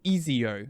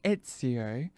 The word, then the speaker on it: Ezio: an example, all right, some people would say Ezio. I'm like, no, it doesn't say that. It says Ezio. So you want to say it like Ezio, like they do in the game.